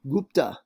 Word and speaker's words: Gupta: world uh as well uh the gupta empire gupta okay that's how you pronounce it and uh that shows up around